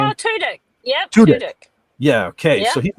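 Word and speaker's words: Alan Tudyk: Uh it's Alan Tutk. Tuttk. I think that's how you say his name. Alan Tudk. Yeah. Tudic.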